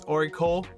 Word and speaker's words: ORICO: And I just realized I've been pronouncing their name wrong the whole entire time during this video. It's Oracle.